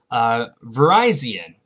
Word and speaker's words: Virizion: The final grass type is, well, one of my favorite Pokemon from Generation 5, Virizion. That's how it's pronounced. I really want to call it Virizion, but it's pronounced Virizion.